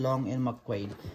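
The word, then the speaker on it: Long & McQuaid: That's how you pronounce that one, Long and McQuaid.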